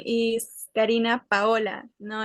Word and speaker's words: Paola: Karina Paula, I don't know how to pronounce that. Karina Paula Present. Okay, present. Carla Liliana Teacher. Sánchez. Ujú. My name is Karina Paola.